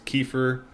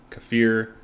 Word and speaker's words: kefir: so many different things kefir kefir and kafir it's pronounced differently like all over the world and raw honey I